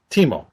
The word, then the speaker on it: Timo: In Finnish language, you always pronounce exactly as you write the words. See over here, it's Timo. It's spelled Timo.